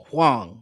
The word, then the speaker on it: Huang: It's spelled Huand. Huang.